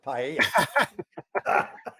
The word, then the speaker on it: paella: you how to say it first though it's paella so though you know i went on a